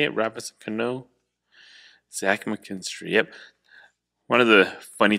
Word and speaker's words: Zach McKinstry: is that how you say it robertson cano zach mckinstry yep one of the funny things about gypsy